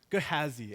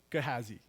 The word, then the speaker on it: Gehazi: His name is Gehazi. Everybody say Gehazi. Okay. I think you pronounce it wrong.